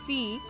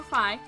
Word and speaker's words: Fi: Fee, or Fi, however you'd like to pronounce it.